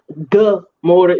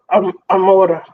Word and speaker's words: Gomorrah: So it's not actually Gomorrah. It's like Amora or something like that.